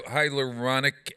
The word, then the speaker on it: hyaluronic: about collagen in lotions and um and higher hyaluronic acid is that how you say it uh